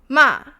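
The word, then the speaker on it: 骂: So this one would be ma, which is curse.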